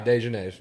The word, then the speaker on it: Dejanets: Yeah, Dejanets. That's how you say it. Dejanets.